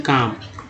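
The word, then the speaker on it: calm: तो जाहिर सी बात है दोस्तों, जैसे एक और ले लेते हैं CLM, काम। L यहाँ साइलेंट है और अभी आपको मिल जाएगा।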